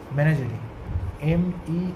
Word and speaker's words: menagerie: আর collection, এটার প্রোনাউন্সিয়েশনটা কীরকম হবে? মেনাজেরি, MENAGERIE।